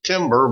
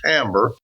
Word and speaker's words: timbre: Now, the term tone, which is probably more correctly called timbre, and I know it looks like it should be timber, but it's actually pronounced timbre.